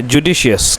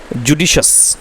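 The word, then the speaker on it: judicious: इसका जो है जुडिशियस, क्या है इसका उच्चारण दोस्तों? वो है जुडिशस।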